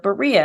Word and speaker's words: Berea: they went to the city of Berea and I think it